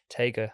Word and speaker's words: Teigr: You can either say Tiger or Teigr. Okay. Which Um, one do you prefer? I don't Tiger. mind, honestly, Okay. because it's the same. So Teigr is how you say it in Welsh, or Okay.